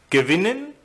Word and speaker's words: gewinnen: And in the group of inseparable verbs, the second syllable is stressed, as in bekommen, gewinnen, verkaufen.